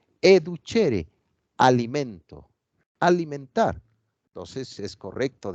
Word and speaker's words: educere: Educere se escribe, pero se pronuncia educere, alimento, alimentar.